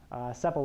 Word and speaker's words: sepal: to get the mean sepal length. I just learned that was pronounced sepal, by the way. In my head, I always pronounced it sepal, which apparently is not correct.